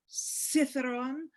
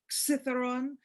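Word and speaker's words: Kithairon: written for you it's written k-i-t-h-a-i-r-o-n but it's pronounced cytheron or cytheron it's a one of the controversial letters in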